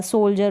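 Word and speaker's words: soldier: तो इस तरीके से यहाँ पर डी को आप ज प्रोनाउंस कर रहे हैं।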